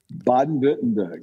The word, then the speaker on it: Baden-Württemberg: Can you pronounce Baden-Württemberg? Baden-Württemberg.